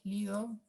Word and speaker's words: Slido: Ahora los invitamos a que con sus celulares entren a Slido. ¿Slido se pronuncia, Lucas?